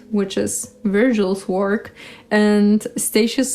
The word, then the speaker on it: Statius: Statius. Let's go with Statius. Let's mix things up a bit. Sometimes you get the Italian pronunciation and sometimes you get the English one.